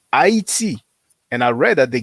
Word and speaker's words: Haiti: Now, if people say Tainos, Arawak, or even Haiti, and we say Haiti in English, that's where we pronounce it, but it's Haiti.